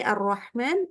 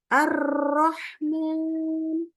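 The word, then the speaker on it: الرحمن: malah justru bukan ee misalkan tadi Arrahman Arrahman bukan Arrahman ingat ya jadi Justru dilembutkan harus seperti itu jadi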